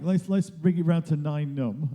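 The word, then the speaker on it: Nien Nunb: Mike, let's bring it round to 9 Num, as we established yesterday was the correct pronunciation. 9 Num, like number 9.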